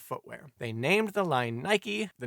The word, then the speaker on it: Nike: They named the line “Nike,” the name of the Greek Goddess of Victory, although said Goddess pronunciation is more like Nee-kay.